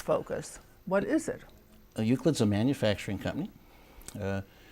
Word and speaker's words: Euclid: from Central Michigan and he is CEO of uid is that how you say it that's correct